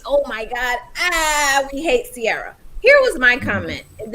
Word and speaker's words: Ciara: So everybody is talking about Ciara. That's how you say it. Ciara, yeah.